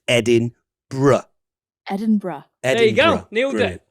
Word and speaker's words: Edinburgh: If you do manage to get yourself to Scotland, it's important to pronounce this city Edinburgh and not as a lot of people in the United States say, which is Edinburgh.